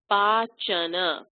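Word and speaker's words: पाचन: It's not a hard ch, but a soft ch. So it's pachana.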